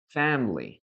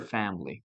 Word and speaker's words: family: She refused to listen listen to his family. Oh, sorry, sorry, sorry, sorry. Her right to her family. Yes. And remember guys that we only have two uh syllables here. Femly. Femly. Only two syllables.